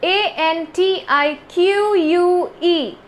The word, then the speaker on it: antique: antic and antique see it's also pronounced differently the first one is a n t i c antic and the second one is a n t i q u e antique so antic which is